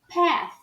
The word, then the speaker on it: path: A mesma coisa acontece com a palavra caminho, que é pronunciada como path. Again, path. Perceba que esse A aqui está sendo falado como E.